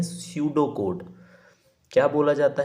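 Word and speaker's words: pseudo: हैं, उसको बोलते हैं स्यूडो कोड। क्या बोला जाता है उसको, उसको बोला जाता है स्यूडो कोड। पी यहाँ पे साइलेंट होता है।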